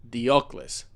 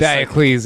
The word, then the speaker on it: Diocles: So if what I know about how to pronounce things in Latin, he's Gaius Apuleius Diocles. Now I guess Diocles, if you're American.